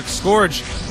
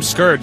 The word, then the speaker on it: Scourge: Note that we can see Dragoon is using the Scorch, although he's really starts calling them Scourge, since that's how you pronounce it.